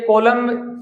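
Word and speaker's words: column: throw the कॉलम ये कॉलम एम और एन कभी साथ-साथ आते हैं ना तो उसमें एन का उच्चारण नहीं होता कभी भी याद रखना कॉलम्स ऑफ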